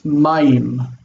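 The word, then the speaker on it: מים: If you're drinking water, it's mayim, but it sounds like mime.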